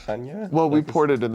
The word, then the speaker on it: Chania: I feel like the most unexpected part was Chania, which we were calling Shania the whole time. Shania, Greece, and it turns Do out... we still know that it's pronounced Hanya?